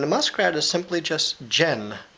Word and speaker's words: dze: muskrat is simply just gin it sounds like a J sound but we spell it with a D and the Z dze and Jen there's a lot